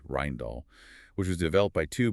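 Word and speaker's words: Rijndael: AES is based on the Rindale algorithm pronounced roughly Rindall which was developed by two brilliant Belgian cryptographers Joan Damon and Vincent Ryman.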